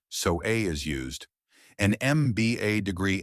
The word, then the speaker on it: MBA: a is used an MBA degree MBA is pronounced MB a starting with the vowel sound e so an is used